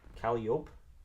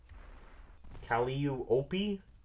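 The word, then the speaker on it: Calliope: Calope with a with a silent e doesn't exactly seem right. Cali Opie, bro.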